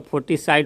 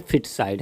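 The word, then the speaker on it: feticide: ये लगता है तब वहाँ पर फोटस है तो फोर्टिस साइड होना चाहिए, लेकिन नहीं, इसका प्रोनाउंसिएशन है फिट साइड, है ना।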